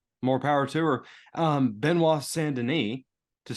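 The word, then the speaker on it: Benoît Saint Denis: good on her more power to her um Beno sandin to say it correctly this week um they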